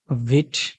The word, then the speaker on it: Vite: অনেকে ভাইট বলে থাকেন। অনেকে ভিট বলে থাকেন। আসলে উচ্চারণটা ভিট হবে। এটা মূলত একটা ফ্রেঞ্চ শব্দ থেকে এসেছে যার অর্থ হচ্ছে ফাস্ট।